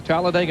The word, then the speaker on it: Talladega: What a day for racing here in Talladega, Alabama. This racetrack almost doesn't need describing. It's a four-syllable word that means speed. You simply say Talladega.